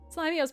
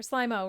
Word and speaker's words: Slimo: Slimio's perfect. Or Slimo, rather. I keep saying it wrong.